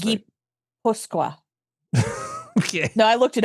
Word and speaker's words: Gipuzkoa: It's pronounced Gipuzkoa.